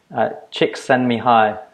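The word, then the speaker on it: Csikszentmihalyi: on good authority that we say his name chicks send me hi Mike yes that's Joey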